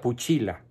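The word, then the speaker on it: pusilla: pero voy a traducirla viene del latín puchila que se escribe con doble c y doble L y se pronuncia puchila y Qué es una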